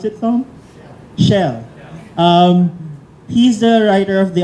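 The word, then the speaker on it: Schell: How do you pronounce it, Tom? Shell.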